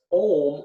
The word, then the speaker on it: Om: the U is like a V and it's pronounced ohm or so it's a Trinity in itself and